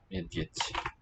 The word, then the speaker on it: Медведь: Spelled med, ed, and a soft sign. Medved.